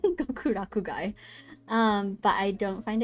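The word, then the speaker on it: Gokurakugai: overarching plot I love gur gokuraku guy I keep saying it wrong gokuraku guy um but I don't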